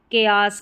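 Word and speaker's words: chaos: और ये है, यहाँ पर मैंने उच्चारण लिखा है केयास करके, केयास थोड़ा डिफिकल्ट है इसलिए यहाँ पर साथ ही में उच्चारण दे दिया, ठीक है।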